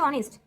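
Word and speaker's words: honest: কিন্তু এখানে এইচ এর উচ্চারণটা কি হয়ে যাচ্ছে? অর্থাৎ এখানে শব্দটা হয়ে যাচ্ছে অনেস্ট।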